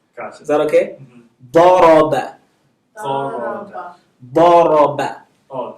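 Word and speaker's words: ضرب: Daraba. Daraba. Daraba. Oh, Zoroba. Dang it. I got the vowel wrong. Daraba.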